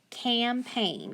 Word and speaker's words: campaign: and then i've got that gn at the end that's one of our ghost digraphs too so i'm going to underline it because that g is silent so now when i sound it out i have cam ain't campaign campaign very good so wrong jigsaw